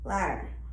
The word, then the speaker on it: ladder: quite a few, but D may be silent. Ladder. As you can see, you can't really hear the D in ladder.